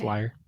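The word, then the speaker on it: lyre: that Paul gay wrote liar like the instrument oh l y r e Birds would you pronounce that differently am I pronouncing that wrong no no I no that's liar like you play an instrument um I that's what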